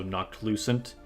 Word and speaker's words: Noctilucent: as nocu noctilucent um it's like knocked like KN and then Lucent so knocked Lucent I keep mispronouncing it